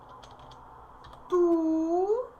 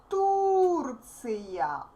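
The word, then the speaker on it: Турция: Well, Turkey in Russian is Turция. Turция. U is stressed.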